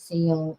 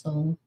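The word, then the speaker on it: Seoul: 300 South Korean nationals bias has caused anger and seal and may impact relations with the US. Oh, oh yeah, it is pronounced soul may impact relations with the US.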